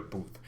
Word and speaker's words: Taylor Booth: so that's why i've never heard of taylor booth but apparently spurs are very very interested in